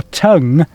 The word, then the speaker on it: tongue: Duncan comes from, in Staffordshire, particular county in sort of North Midlands area, they pronounce tongue as tong.